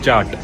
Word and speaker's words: kyat: इनकी करेंसी है क्यात, KYAT, लेकिन उसे प्रोनाउंस करते हैं चाट, च प्रोनाउंस करते हैं KY को इनकी लैंग्वेज में।